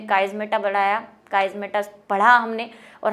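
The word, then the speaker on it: chiasmata: तो काइज़मेटा, और गूगल पे मैंने इसका प्रोनाउंसिएशन भी देखा हुआ है, काइज़मेटा ही कहते हैं इसको, चाइज़मेटा नहीं कहते।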